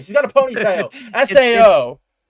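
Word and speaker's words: Saoirse: Sao. It It's It's Sasha. Uh she's It's cuz it's Irish.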